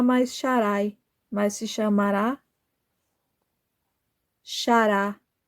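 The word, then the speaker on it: שָׂרָה: E o Criador do céu e da terra, Yahuwah, disse que ela não se chamará mais Sharai, mas se chamará Shará.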